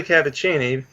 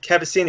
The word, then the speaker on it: Cavaccini: Well, it's technically Cavaccini, but Cavaccini is like the Americanized version of it.